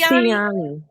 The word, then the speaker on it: Tioni: It's Tioni.